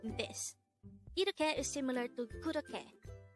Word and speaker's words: 그렇게: 그렇게. This is pronounced as a three-syllable word. The first syllable is 그, second syllable is 러, and the third syllable is 게.